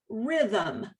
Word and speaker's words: rhythm: where vowels don't go as in the word rhythm you've got that uh sound that schwa in between the h and the m next slide and only